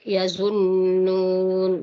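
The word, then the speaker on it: يَظُنُّونَ: Di ayat 78 di situ di kalimat yazunnun, jadi masih perlu di penekanan nun tasydid dan wakaf di situ. Jadi diberikan haknya untuk harakatnya ya, 2 sampai 6 harakat. Illa yazunnun. Karena kita berada di akhir ayat, maka dipanjangkan sampai dengan 6 harakat di situ. Yazunnun. Jadi tambah tasdidnya di nun, tambah di nun akhir. Jadi ada nun nun pertama dan nun kedua.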